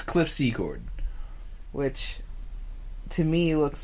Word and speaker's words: Secord: That's sad, because it's spelt S-E-C-O-R-D. How is that Secord?